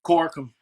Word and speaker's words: Corkum: In any case, did I say your last name wrong? Yeah. No. You sounded right. Great. Corkum.